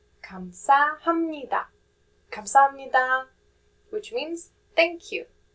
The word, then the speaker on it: 감사합니다: The p sound changes to m sound just for easier pronunciation.